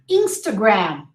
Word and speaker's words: Instagram: red bull red bull insta gram not close your lips instagram the thus the first a is the schwa oh remember instagram instagram and the last a the second a is the ah sound so you say insta